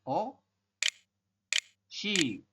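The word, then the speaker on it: 옷이: Tetapi kita membacanya bukan ot i, tapi adalah o shi.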